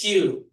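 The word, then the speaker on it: queue: It's Q. Right. Oke. Dari sekian panjang ini yang dibaca cuman satu huruf ini semua silence dib cuman Q.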